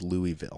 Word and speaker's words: Louisville: I believe the pronunciation is Louisville.